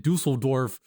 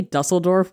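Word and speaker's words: Düsseldorf: I was like, oh yeah, in Dusseldorf, we got crunked up and then we pretended to be the Hat Man.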